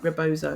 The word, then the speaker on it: rebozo: Is it rebozo? Is that right? Rebozo. Yeah. Rebozo, yeah.